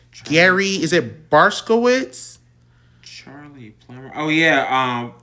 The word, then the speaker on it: Barkovich: What the hell is his last name pronounced? Gary, is it Barskowitz? Charlie Plummer. Oh yeah, Barkovich.